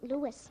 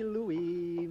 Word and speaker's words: Louis: horse in saint louis excuse me mr costello but it's pronouncing louis that's funny now you take that their new song meet me in saint louis louie meet me oh that's